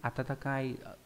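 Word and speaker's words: 温かい: Atatakai khi mà dùng chữ noãn là ấm về mặt thời tiết, thì khi dùng chữ atatakai cũng đọc giống như vậy.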